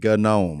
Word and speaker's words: gnome: o m g G it's that silent G gnome it's a got him got